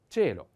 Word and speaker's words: cielo: So put together C and I, like c'è, c'è. And the word is cielo.